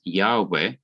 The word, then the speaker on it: Yahweh: almost in agreement that the original pronunciation of this name is yahweh or yahweh in translation into english